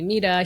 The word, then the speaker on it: Mita: So I gave him the option to call me mida.